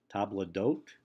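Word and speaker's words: table d'hôte: us actually the origin table d'hote you might remember that from a song in The Sound of Music but it literally means the hosts table and in English we never lost the s and so we print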